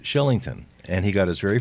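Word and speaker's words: Kylington: K but it's Shillington he's Swedish and it's pronounced Shillington and he got his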